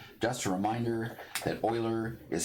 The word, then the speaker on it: Euler: e to the x just a reminder that euler is spelled e u e e u l e